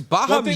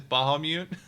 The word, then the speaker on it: Bahamut: Like m that's a common misprononunciation of Bahamut is Bahamute.